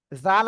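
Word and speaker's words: ذ: my leaf please দেখেন জিহ্বার আগামী এর উপরে দুই দাঁতের আগা এর সাথে লাগাবো লাগিয়ে আমরা উচ্চারণ করব নরম সুরে কেমন নরম আওয়াজে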